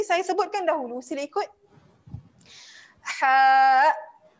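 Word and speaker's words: ح: Perasan tak dia punya ejaan dia? Okey. Yang ini saya sebutkan dahulu, sila ikut. Ha. Ha.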